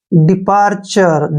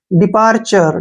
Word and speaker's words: departure: डिपार्चर, जब भी TURE last में आए तो उसको चर पढ़ना है, ठीक है। डिपार्चर, डिपार्चर क्या होता है विदाई, विदाई, डिपार्चर विदाई।